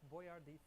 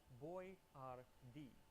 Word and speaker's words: Boyardee: So he started spelling it out phonetically, Boyardee. And unfortunately, they didn't specify where the accent was, so Chef Boyardee quickly became Chef Boyardee.